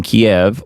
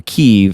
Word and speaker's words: Kiev: Moscow smashes largest logistics center in Kiev or Keev as some people say.